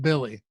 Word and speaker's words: Willy: Dude, if you go to Basketball Reference, it's Willie pronounced Billy. I had absolutely no idea. No, Josh and I were calling him Willie the whole show.